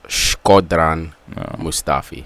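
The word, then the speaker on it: Shkodran Mustafi: wondering um uh how to say it it's schran mustafi thought it was scrotom um going to Arsenal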